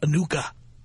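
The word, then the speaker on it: Anucha: was a new cup it's pronounced Anika Brown Sanders over her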